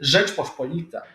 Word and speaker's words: Rzeczpospolita: If you want to be a cool dude and pronounce it in the proper way, never say Poland, Lithuania. That's the Western stupid people. I apologize. Say Rzeczpospolita. That's how you say.